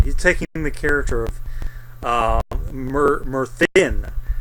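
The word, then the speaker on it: Myrddin: He's taking the character of Merthin, although it's spelled with a double D, it's Merthin.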